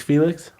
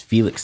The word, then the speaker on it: Phoelix: Keith Felix? Nope. It's Felix spelled like Phoenix, so the O is first.